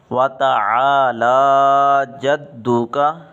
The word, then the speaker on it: وَتَعَالَى جَدُّكَ: غلطی کر جاتے ہیں، ایک تو جو عین ہے عین کو حمزہ پڑھ دیتے ہیں وَتَعَالَى، لام کے اوپر کھڑی زبر ہے، اس کو بھی ٹھیک طریقے سے ادا نہیں کرتے، تو یہ غلط ہے۔ صحیح تلفظ یہ ہے وَتَعَالَى جَدُّكَ، وَتَعَالَى جَدُّكَ۔ دال کی جو شد